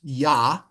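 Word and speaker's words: יה: a name of God now what do we know about a hey at the end of a word it's not pronounced is it right but this is a special con a special case there is a doggish in the middle of that ha at the end of a word right the technical term of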